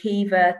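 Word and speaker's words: Caoimhe: know if i can say keeva to somebody who spells their name as c-a-i-o-m-h-e then sharmishta is is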